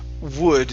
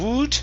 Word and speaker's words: would: And last one here is would. Instead of would with an oo sound, it's an would.